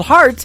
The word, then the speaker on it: Hart: good friend Robbie Hart it is HR t on her last name and that is called heart in two places yeah I just like